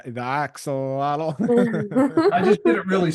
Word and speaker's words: Axolotl: Axolotl. The Axolotl.